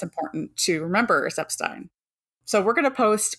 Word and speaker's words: Epstein: it so that's why it's important to remember seep Stein so we're going to post Ronnie's lovely didy